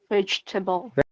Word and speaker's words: vegetable: most commonly pronounced words it is always pronounced like badge you can see the swasan in t in the middle I've highlighted yes and the ble there is before e l batch table vegetable very good whenever I